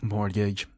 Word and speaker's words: mortgage: a say it again morgage oh man you don't even say it right it feels like well there there's that t in the middle of the word Mor Mor Mor Gage